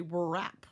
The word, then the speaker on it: wrap: And someone might say, wow, this one has a W. And we don't say that say sound. We don't say wrap. Wrap. I can't even say it. So we'll notice silent W.